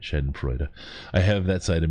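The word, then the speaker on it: schadenfreude: i also i have this shen freud side of me and i love love sorry to say it right shed and freud i have that side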